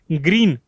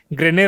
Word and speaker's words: Grene: A Hyderabad based technology R&D firm by the name of ग्रीन, although इसके spelling थोड़े अलग है, GRENE, ग्रेने रोबोटिक्स या फिर ग्रीन भी कह सकते हैं।